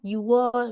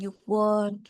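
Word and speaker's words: 유월: Nah, dia bilang itu bacanya Yuwol bukan Yukwol gitu karena dia tuh pacim gitu konsonan ya.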